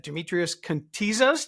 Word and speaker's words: Demetrios Kontizas: It's Terrence Branley with the Grow IT Podcast, and today I'm lucky to have Demetrios Kontizas. Did I pronounce it correctly?